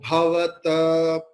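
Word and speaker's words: भवत्: But here bhavat, the half ta is in the last. So it will be pronounced as quarter.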